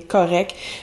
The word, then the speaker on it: correct: Donc, correct, on prononce pas le T souvent, on va simplifier les finales. Donc, de correct, on passe à correct, ça devient correct.